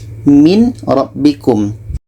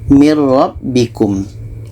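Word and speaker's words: مِنْ رَبِّكُمْ: kita masukkan ke roh yang asalnya adalah min rabbikum min robbikum tapi yang betul Bacanya adalah Nun ini kita masukkan ke roh mirrobbikum tidak ada dengung seterusnya untuk contoh tanwin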